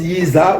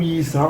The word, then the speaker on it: Yisa: Ça se prononce Yisa ou Yisa. On vous a dit le Z et le S. Ça se prononce pareil en langue Congo.